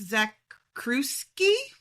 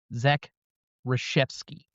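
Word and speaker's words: Zakrzewski: I need to tell you who the director is, but I can't pronounce it. Alex Zakuski. You apparently don't have enough Polish people around where you live. Zack Rasheepski.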